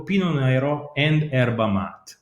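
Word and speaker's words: Pinot Nero: particular chardonnay mostly planted pino bianco pinot neiro i'm using the italian pronunciation because yes pinot noir came from elsewhere but was adapted in the local soil so when a grape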